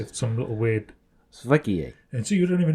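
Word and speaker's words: sveiki: I mean, for example, if you want to say hello in Lithuanian, it looks like sviki. Sviki. Yeah, but it's not. It's svikie. It's like some little weird... Svikie.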